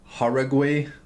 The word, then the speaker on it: Jauregui: There's also another pretty good prospect, Yasmin Jauregui.